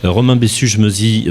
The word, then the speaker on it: Romain Bessuges-Meusy: au futur à Paris dans le 15e arrondissement romain bessu meit bonjour vous êtes le fondateur et le président de acceptio bravo pour la prononciation effectivement c'est moi je suis Robain et